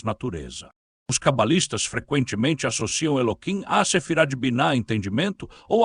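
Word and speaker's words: Elohim: Eloquim, que pronunciamos Eloquim com K por reverência, está associado ao atributo da justiça e do julgamento Midat Hajin, enquanto ao nome sagrado Yodrivavri.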